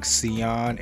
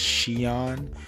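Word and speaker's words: Siyeon: that i was saying xeon and it's xi'an um with an sh sound and then i was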